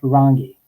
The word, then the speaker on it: Rangi: the series and co-producer how do you really pronounce rangi uh it's so it's um two rolled rs and our emphasis on the first you oh no it's